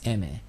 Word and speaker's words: Aimer: The first time I saw her, I would just pronounce it using the English name that she has, which is Aimer, but turns out her pronunciation is Eme.